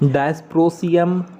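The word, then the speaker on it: Dysprosium: देखिए, सीरियम नाम है, प्रसियोडीमियम नाम है, neodymium, प्रोमेथियम, samarium, europium, गोडेलिनियम, terbium, ठीक है, माफ़ कीजिएगा, टर्बियम, डायस्प्रोसियम, होल्मियम, इर्बियम, थूलियम, येट्रिबियम और ल्यूटेटियम।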